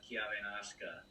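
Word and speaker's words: Chiavennasca: know in baltalina they refer to it as kia venasqua so those are my thoughts you nailed the pronunciation of kiavenaska which is the the local word for nebula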